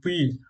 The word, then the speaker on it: puits: Donc, le S final est muet, on va dire puits éloigné, et là on va dire banc orange.